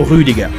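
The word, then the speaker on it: Rüdiger: de la soirée Antonio rudiga de son côté son nom se finit qui en allemand se prononce a comme dans bar ou comme dans TER mais sûement pas comme dans Be concernant les deux autres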